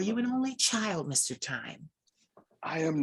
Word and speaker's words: Thyme: I said, your name is pronounced Thyme. And you were like, yes, you got it right. And I'm like, well, if you cook and if you're a connoisseur, thyme is a spice, it's an herb.